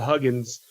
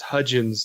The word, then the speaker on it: Hudgens: name he said Vanessa Huggins and she came out and automatically corrected him she's like well if you got another name wrong its Hudgens not Huggins so but it was